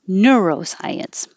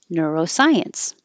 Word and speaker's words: neuroscience: nice it means ignorance Nations and I always pronounce this with stress on the new like Neuroscience but this the dictionary had stress on science Neuroscience neuroscience nonsense nonsense Knack of is a phrasal